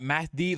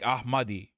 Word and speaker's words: Ahmadi: Not Mahdi like Ahmadi.